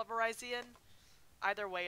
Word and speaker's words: Virizion: it's Ferrazzi and frisian i say it both ways I just I just say it however I feel like saying it whenever I feel like saying it I I just do that sometimes I know it's Verizon but I've been calling it Virizion too long but sometimes I'll call